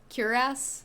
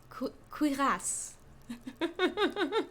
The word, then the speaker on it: cuirass: Cuirass. There you go. Cuirass. That's how you'd say that. Cuirass. Let's just call it a cuirass. I like that better. Rhymes with harass. Cuirass.